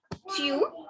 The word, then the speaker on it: tu: So take the Hindi tu and make it a bit stylish, since French are stylish people. So say tu.